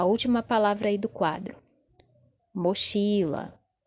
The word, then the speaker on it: mochila: Mochila. Mochila. Também a sílaba forte é a penúltima.